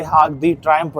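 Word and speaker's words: Arc de Triomphe: तो ये है भाई आर्क डी ट्रायम्फ, ट्रायम्फ बोल लो, ट्रायम्पो बोल लो, ट्रायम्पे बोल लो, जो इसकी प्रोनाउंसिएशन है वो वैसे आर्क डी ट्रायम्फ है, ट्रायम्पो प करके, ठीक है।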